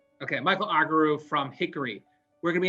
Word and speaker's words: Argyrou: Argyrou. Argyrou. Okay, Michael Argyrou from Hickory.